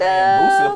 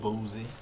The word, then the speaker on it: Boosie: And Boosie, am I saying it right? Lil Boosie. Boozy. Lil Boozy. Boozy. It's Boosie, man.